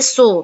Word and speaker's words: saw: see saw، see saw يرى رأى، هنا حرف الايه pronounced O، see so بس لما بكتبه بكتبه بالA، يبقى see so يرى رأى.